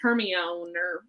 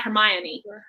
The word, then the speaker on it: Hermione: Harry Potter where everyone every American was mispronouncing the name it was hermioneer I don't even remember how I pronounced it but it was not Hermione yeah um because I'd never heard that name before um and so she has you know this whole talk between two characters I forget who and they're talking about how to pronounce her name it's Hermione and so I thought